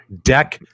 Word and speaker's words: deck: It is deck protector. Deck. Watch how you say the word deck, my friend, with that thick Canadian accent.